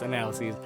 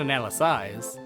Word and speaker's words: analyses: story like analysis analyses that's the way you pronounce analyses not an Alys SI and then oh there's